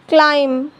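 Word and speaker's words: climb: B silent तब होता है जब बी से पहले एम आता है तो बी साइलेंट होता है।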